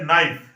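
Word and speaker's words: knife: देखो भाई, साइलेंट का मतलब ये होता है जैसे नाइफ, नाइफ में के गायब है, और NIFE नाइफ, हम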